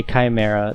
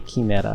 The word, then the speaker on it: chimera: know for sure that it's supposed to be said another way like the the kineta how they say chimera it's i'm gonna say chimera they say kimera i think so the